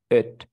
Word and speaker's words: it: Es por eso que el pronombre, este pronombre se dice así como it, It. it. En cambio, el otro se dice eat, It.